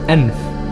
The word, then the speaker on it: Enif: Enif, in the Pegasus constellation, pronounced Enf, meaning nose.